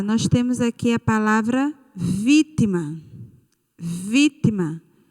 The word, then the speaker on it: vítima: Nós temos aqui a palavra vítima. Vítima. A sílaba tônica é vi. Ela é a última, a penúltima ou a antepenúltima? Muito bem, a antepenúltima.